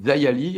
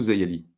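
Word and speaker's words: Xia Li: Oh, oui, alors moi, les Américains disent Dayali. Alors, il y a des gens qui sont, forts en culture chinoise qui me disent qu'on prononce pas ça comme ça. Bon, on peut aussi j'imagine qu'on peut dire comme on veut finalement, voilà. On peut dire les 2.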